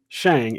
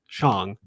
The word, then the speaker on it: Shang-Chi: that but thankfully i now know how to pronounce it correctly and it's not shang it's chong so i'm most likely still going to say